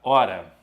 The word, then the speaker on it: hora: coloco aqui a palavra hora na palavra hora existem quatro letras como eu tenho h eu já sei que o h não tem som são quatro letras e